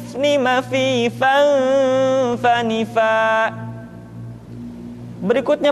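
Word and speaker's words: م: Lu, lallani, lalna, minal, mulni, mali, lallani, la. Selanjutnya huruf ma diucapkan dengan cara merapatkan dua bibir.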